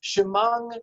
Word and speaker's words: Shema: The ayin is pronounced as an NG sound. So it's Shemang Yisrael, or Nam Yisrael, or Ana Hashem Hoshinana.